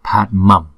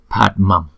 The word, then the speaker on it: Padmam: Thì chữ Anuswara trước đó đó, chúng ta cũng phải đọc bằng môi luôn, tức là đọc bằng M. Thì chữ này chúng ta đọc là Padmam, thấy không? Padmam, Padmam.